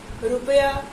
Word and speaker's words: रुपया: एक तो ये रुपया, रुपया का उच्चारण जरा करिए, रुपया, रुपया आपको समझ में आ जाएगा। र पे क्या है? छोटे ऊ की मात्रा है।